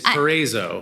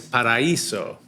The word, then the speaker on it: Paraiso: pronouncing it corre incorrectly if you're from New Jersey it's perzo all right that's how I said it yes but if you're Latina it's pariso par but it's Amara at